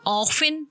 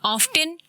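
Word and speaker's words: often: एक अंग्रेज बोलता है डिरेक्शन, दूसरा कहेगा डायरेक्शन, एक कहेगा ऑफिन, दूसरा बोलेगा ऑफ्टिन।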